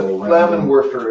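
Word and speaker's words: Flammenwerfer: anybody know what a Flamin warer is SC he says Greek Fire must have been more like a Flamin warer uh that would be if you were using a German pronunciation the W right there is me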